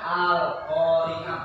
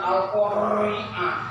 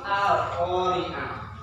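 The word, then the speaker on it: القارعة: Contohnya al-qari'ah. Ro-nya ini tipis, bukan al-qari'ah. Bukan itu kan? Tapi al-qari'ah. Tipis, tidak seperti wanhal.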